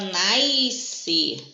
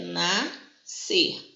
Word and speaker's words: nascer: Aqui tem muita gente que na hora de pronunciar fala nascer. Isso não existe, tá, gente? É nascer. O S e o C vão se encontrar para ter um som só, porque é um dígrafo.